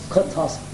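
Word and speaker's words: Kotovsky: How do you pronounce his name? Kutowski.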